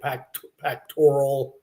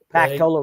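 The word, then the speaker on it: Pactola: Hill City I believe south of however you pronounce that lake pacctoral pacola reservoir.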